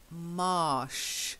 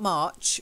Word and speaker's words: marsh: oh very good and then marsh not March March is with the CH marsh yeah marsh that's it good and then one